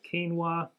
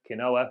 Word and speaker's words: quinoa: being fancy things like uh quinoa or depends how you pronounce it kinoa for people that are probably given it a first attempt keiz how it's actually said uh ble wheat po